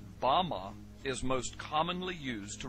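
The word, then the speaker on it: במה: which Satan fell is Strong's Hebrew word 116 pronounced Bama Bama is most commonly used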